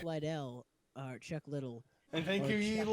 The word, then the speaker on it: Liddell: Liddell.